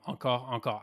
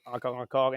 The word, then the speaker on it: Encore Encore: Obviously, since we're French, we wanted to have like something that a bit sounds good to us, but also that can be pronounced in English. Encore, encore, encore, encore. You can, whatever you want to float your boat.